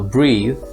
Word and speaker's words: breathe: short vowel breath meanwhile breathe with an e at the end is the verb and you pronounce this with a long vowel so you breathe or